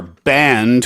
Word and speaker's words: banned: This is not, phonetically, it sounds like B-A-N-D, the music players, right?